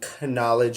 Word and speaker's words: knowledge: about to drop some knowledge on you canal canola CH knowledge that's a silent K our language is pretty